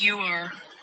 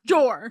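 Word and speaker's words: Joar: It's pronounced you are. Oh, you like it's got a U like a solid. There are no U's in No, it's J O A R. Jore.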